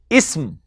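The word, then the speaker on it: اسم: The first is ism. Difficult to pronounce because there is no vowel in between. Ism. It is not to be pronounced ism, but ism.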